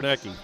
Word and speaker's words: Sarnecki: One, Sarnecki, is that how you say his name? Yeah, Sarnecki. Yep.